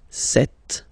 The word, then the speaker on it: cette: So you can notice that phonetically these two are pronounced the same way.